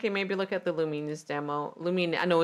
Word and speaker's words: Lumines: I feel like it maybe look at the Luminess demo. Lum. I know it's Lumines. I know. I know everyone. Everyone who has told me it is Luminess.